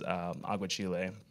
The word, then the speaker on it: aguachile: So one food that actually does really nourish me and I love is aguachile.